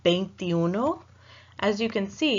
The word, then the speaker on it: veintiuno: as you can see it starts with a V for Victor in English in Spanish whenever you pronounce a V you want to think of it almost as a soft B as in boy in English so you're never going to want to say vase you know thank you those because